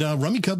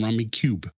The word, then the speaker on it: Rummikub: And Rummy Cub was actually the second game to ever win the Spiel des Jahres, making it a pretty solid classic in my book.